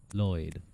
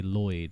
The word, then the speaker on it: Lloyd: Um, which is pronounced produced by placing your tongue in the standard L position and blowing air at the sides of your mouth, creating a hissing or whispered sound. Floyd. Lloyd.